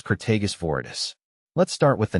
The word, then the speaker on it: Crataegus viridis: Crataegus viridis, green hawthorn.